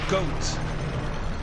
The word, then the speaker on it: Goht: Masked mechanical monster, Goht. And yes, you do pronounce it as Goat, because it's supposed to be word 1 on Goat.